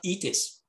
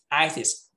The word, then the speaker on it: itis: Don't pronounce E, not itis, itis.